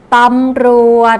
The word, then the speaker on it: ตำรวจ: สังเกต ดู นะ คะ ตำรวจ ตรง นี้ เรา มี รอ เรือ อยู่ ถ้า มี รอ เรือ อยู่ ดิ จะ ต้อง ออก เสียง รอ เรือ ให้ ชัด เจน นะ คะ ออก เสียง